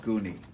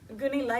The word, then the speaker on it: Gunilla: It's spelled Gunilla, or do you want Goonie? Gunilla is my real name, so go with that. Go to what? Go with my real name.